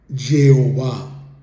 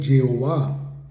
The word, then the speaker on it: Jehová: es jota por consiguiente la pronunciación más aproximada podría ser Jehová y entonces Dios le